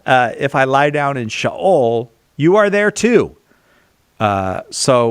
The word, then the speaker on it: Sheol: It is not Sheol, it's Sheol. Good. Well, thank you. I learned. If I lie down in Sheol, you are there too.